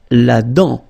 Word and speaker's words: dent: La dent. Final T not pronounced.